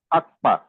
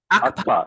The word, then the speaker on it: Akpa: Thank you for the pronunciation is Akpa. Akpa? Akpa. The KPA is Pa. Akpa. Like the sound of a gun.